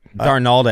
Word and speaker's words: Darnold: Darnold actually looked pretty good.